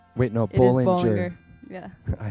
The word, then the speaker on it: Bollinger: of the time people just get your last name wrong and they say Bollinger wait no Bollinger yeah I say it right now but I